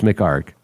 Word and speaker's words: McHargue: me do not spell do not pronounce those last two letters. It's mark.